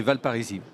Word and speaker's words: Valparisis: vice-président de l'agglomération de Valparisis. Je prononce bien? C'est exactement ça, oui. On confond des fois avec la ville, mais oui, c'est Valparisis. Donc j'ai bien raison de ne pas prononcer le S.